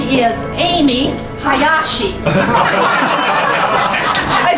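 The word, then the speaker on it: Aimee: I said, but it's spelled A-I-M-E-E. Amy usually is spelled A-M-Y. I said, maybe it's a Japanese rendition for Aimi. And I said, does that sound Japanese? He says, yes. Aimi, especially the Mi, is a very popular name for Japanese girls.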